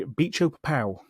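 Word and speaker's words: Bicho-Papão: I'm going to spell this one out because I want to make sure that is how you say that. Yeah. B I C H O B I C. Yeah. Hyphen. P A P A O.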